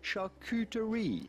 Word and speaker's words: charcuterie: or american you'd say charcuterie charcuterie you do want to insist on the q part and it's coo because yes it is